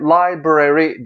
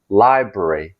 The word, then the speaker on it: library: Mesela genelde library diye uzatılıyor ama aslında kısaca library.